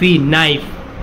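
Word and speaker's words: knife: से नहीं बेटा एफ एन से नहीं होता प्रोनाउंस एन से होता है बट लिखते हैं हम के से है के हां ये रहा के एन आई एफ नाइफ ये बोलेंगे ठीक है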